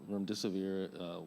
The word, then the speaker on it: remdesivir: Now, there is another drug, hope I pronounced correctly, remdesivir?